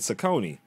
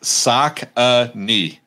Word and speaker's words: Saucony: cause i always said sakoni but you said saucony is there a proper pronunciation so it's yeah it's sock a knee they they actually did